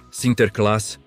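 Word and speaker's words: Sinterklaas: Em solo americano, a pronúncia holandesa Sinterclass foi sendo gradualmente anglicizada. adaptada ao idioma inglês, Sinterclass, Santa Claus, sua familiar, não é?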